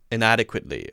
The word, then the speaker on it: inadequately: Or inadequately, or or inadequately. Not adequate. Americans say adequate. Inadequate. It's so inadequate. I don't like it. It's so bad. That's the American pronunciation. Inadequately. There's a different A sound.